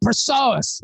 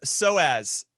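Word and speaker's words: psoas: honest with you he was struck by the personas no no no it's pronounced soaz i i had this i had this injury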